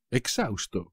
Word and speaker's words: exhausto: no puedo más exhausto exhausto como siempre por supuesto la H no se pronuncia tras correr 420 m